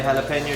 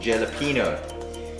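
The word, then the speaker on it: jalapeño: your chilies were nice how do you say jalapeno chili that's exactly how you say that I used to said Jay Lupino it's not the correct way I'm just gonna take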